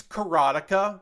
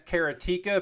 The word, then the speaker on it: Karateka: karateka or karateka I it's carotica but I learned it as keratika because when I knew about that video game there was no easy way for me to learn how it was actually pronounced so I just called it karateka I'm fairly confident that it's carotica so you know I'm